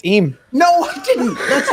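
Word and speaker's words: Eyam: It's Eam.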